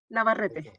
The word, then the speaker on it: Navarrete: So Commissioner Navarrete, did I say it correctly? Is Navarrete? Yes, Navarrete.